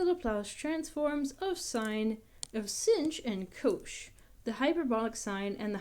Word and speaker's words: cosh: The hyperbolic cosine function, cos with an extra h -- this is pronounced as it's written, cosh -- is the same